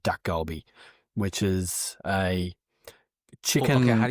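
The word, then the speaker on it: dakgalbi: thing to cook is a Korean dish called duck goby, which is a chicken. Okay. How do you how do you spell that?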